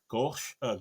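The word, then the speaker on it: Gough: Again, Christopher Lee, Peter Cushing, Michael Gosh. I never can pronounce his name properly, I think but it's just Michael you know, Goff.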